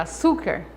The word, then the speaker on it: açúcar: Na palavra açúcar, o su é a sílaba tônica, contando última, penúltima.